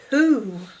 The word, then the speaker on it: who: You hear the wh sound. Who. Who. Wh, wh, digraph. And ooh says O.